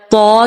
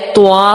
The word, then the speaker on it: طا: اسی طرح طا کے بجائے طوا ہو جاتا ہے. اس طرح نہیں کرنا.